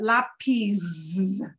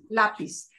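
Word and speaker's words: lápiz: to it so it should just be a flat out flat s sound so we get words like oh the word for pencil this sep frequently is word lapis so we don't want to pronounce that lapis it's lapis we get the word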